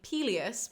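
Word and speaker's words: Pelias: So Peleus the king is spelled P-E-L-I-A-S, but we will meet Peleus, Achilles' dad, who is P-E-L-E-U-S, and you will just have to know for context who I'm talking about.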